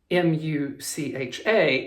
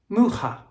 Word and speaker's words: Mucha: the name of Alphonse, M-U-C-H-A, and I was pronouncing it originally Mucha. I was told it was pronounced Mucha, And then another great